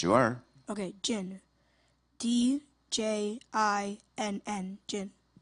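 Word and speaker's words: djinn: Jinn, am I saying it correctly? Yes, you are. Okay, jinn. D-J-I-N-N, jinn.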